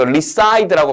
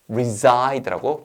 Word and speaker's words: reside: 그럼 이거 reside라고 발음하지 말고 reside라고 발음하는 거예요.